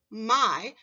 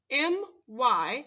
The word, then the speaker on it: my: When you're reading the word my, remember to pronounce the letter Y as I. When writing the word my, remember to spell the I sound with the letter Y. M-Y spells my.